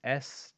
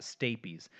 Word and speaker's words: stapes: it looks like stapes but spelled I mean pronounced stabies staps staps the stay Pease and it's one of the bones in your